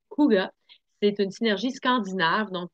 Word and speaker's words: Ouga: Ou le parfum d'ambiance Ouga, oui, il se prononce bien Ouga.